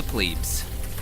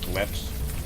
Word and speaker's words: plebs: Until then, I ride the bus with the plebes. Could be worse. At least cops ride free. I think the proper pronunciation is plebs, not plebes.